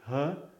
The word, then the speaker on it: He: I don't know if it's because we have twins as founders, but our Asia director is with me here. His name is Edward He, but it's pronounced He.